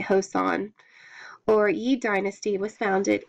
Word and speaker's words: Joseon: The chosen, oh, the Hosan, it's spelled Choson, so I'm going to say, I'm going to say Joseon, or Yi Dynasty, was